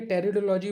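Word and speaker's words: Pteridology: ठीक है, टेरिडोलॉजी में जो पी है शब्द ये शांत रहता है या साइलेंट रहता है ना।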